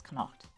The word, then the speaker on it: Connacht: I've been told it's Connacht, because I keep saying it wrong.